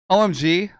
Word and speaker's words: OMG: jill both got that omg like oh my god omega mu gamma no i think it's meant to be pronounced omg omg ballet you were